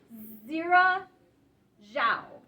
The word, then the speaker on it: Xiran Zhao: And we're going to do our best to pronounce the author's name correctly. Xiran Zhao.